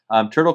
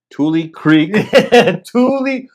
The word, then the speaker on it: Tule Creek: Tule Creek. Tule Creek Fishing. He said it so many different times at weigh-ins. And I said it right to him. He's like, "It's not turtle." It's not.